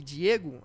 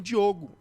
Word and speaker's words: Diogo: né e as é mais comum você encontrar diegos do que Diogo Então eu acho que de tanto ouvir Diego Aí eu acabo esquecendo que tem o Diogo aí até na na hora de pronunciar acaba saindo e Diego mas eu não não vou errar não mas todo Diogo é confundido com Diego Diogo é mas nemum Diego chamam de Diogo cara impressionante verdade é